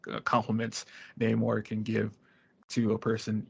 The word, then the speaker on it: Namor: But remember, it's now Namor. It's not Namor. Oh yeah, it's sexier now. You heard the way he pronounced it? I was like, Jesus Christ. Namor. They put an accent over the A.